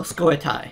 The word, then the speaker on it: Scoia'tael: Oh, Scoia'tael. I think that's how that's pronounced.